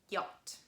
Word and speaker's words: yacht: brochure shaft machine and there is one word where ch is written but not pronounced at all and please remember this word this is the word yot yacht let's move on and